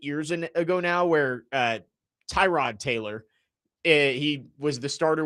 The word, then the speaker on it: Tyrod: player, everyone called him Tyrod. And he's like, oh, no, it's Tyrod. You've been saying it wrong the whole time.